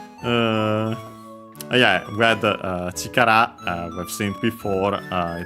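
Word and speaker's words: chikara: Uh yeah, we had uh chikar we've seen before uh it means uh power strength accent on the last syllable uh force strength uh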